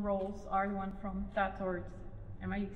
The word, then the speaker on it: Tatort: I think your most known roles are the one from Tatort. Am I saying it right? Yeah, Tatort, yeah.